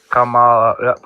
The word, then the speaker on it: Kamala: How I remember to say it correctly is it's just like a comma, the punctuation mark. Yeah. And comma. And that's what Abdullah. MAGA does. Yeah. Kamala Harris.